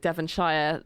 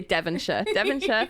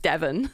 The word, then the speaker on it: Devonshire: Like when she said I said it already, but she said Devonshire. Like nobody would say that. You say Devonshire, or just Devon.